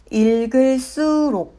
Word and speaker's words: 읽을수록: 읽을수록은 읽을수록으로 발음합니다.